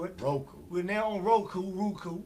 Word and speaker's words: Roku: We're now on Roku. Roku is ROO, like kangaroo.